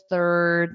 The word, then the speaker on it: third: to form that unvoiced th. Put your tongue between your teeth and push out the air.